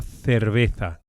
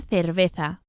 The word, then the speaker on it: cerveza: Both the initial C and the Z or the Z are pronounced as English THs.